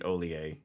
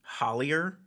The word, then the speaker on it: Hollier: If you were going to say it phonetically in English, it's Hollier. Yep. But it's Hollier because of your French roots, right?